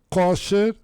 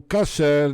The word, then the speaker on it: kosher: lado da Espanha mas as duas pronúncias são corretas cosher ou casser dizendo que isso é